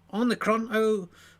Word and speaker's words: Omicron: It's Omicron.